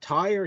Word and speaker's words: Tyr: Tyre, how do you guys pronounce it? Tyre, Tyr? I think it's Tyr. Yeah, Tyr, that one. I always say TYR because I thought it was just TYR, but like, Eternal Idol is not bad.